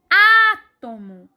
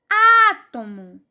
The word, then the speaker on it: átomo: a próxima palavra é átomo átomo átomo a sílaba mais forte é o a e mais uma vez antepenúltimo lugar e é todas essas